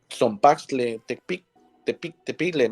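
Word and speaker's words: Tzompaxtle Tecpile: con el caso que mencionaba Memo del caso Zompaxtle Tepigle, ¿no? Así se pronuncia.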